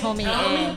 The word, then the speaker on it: Tomie: That's the first time I've ever heard anyone pronounce that E. I had no idea, girl. I have never heard anyone say that. It's supposed to be pronounced Tomie.